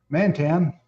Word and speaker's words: Mantan: Mantan, which am I pronouncing that right?